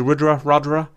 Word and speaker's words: Rudra: How do you pronounce it? Is it Rudra?